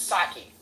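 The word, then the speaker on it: Psaki: it's saki like I I definitely know it's saki J saki I call her tacky because she's tacky saki like the Japanese beverage I mean no no it spelled like it spelled like a Polish person yeah I got say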